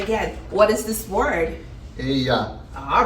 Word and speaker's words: ella: Elia. Elia. Okay, nice try. But in Spanish, when two L's are next to each other, they have a slight Y sound. So this word would be ella.